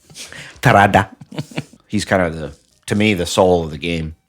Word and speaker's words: Terada: You pronounced it wrong, but yeah. Yeah, how's it pronounced? Terada.